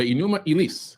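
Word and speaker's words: Enuma Elish: Seven Tablets of Creation the enuma Elis which is really the way to pronounce it you could say Elish as well more Americanized right is the Babylonian creation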